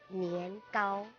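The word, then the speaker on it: 年糕: And also the tikoy, you have to offer that one also during New Year because tikoy, the pronunciation in Mandarin is nian, gao.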